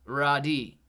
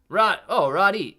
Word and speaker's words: Irides: Irides I is silent. Roddy. Roddy.